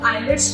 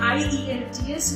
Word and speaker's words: IELTS: लोग कैसे बोलते हैं आईईएलटीएस, इसका असली pronunciation. Okay, very good. आईईएलटीएस ही इसका ओरिजिनल प्रोनाउंसिएशन है, हम लोग आईएलटीएस बोलते हैं। आईलेट्स बिल्कुल गलत है, उसे मत यूज करिए।